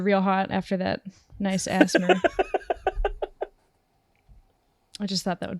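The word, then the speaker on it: ASMR: pronounce it? It's undoubtedly Asmer.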